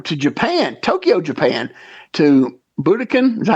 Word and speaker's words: Budokan: All right, so this next one, we're going to go to Japan, Tokyo, Japan, to Budokan. Is that how you say it? Budokan? Budokan, yeah.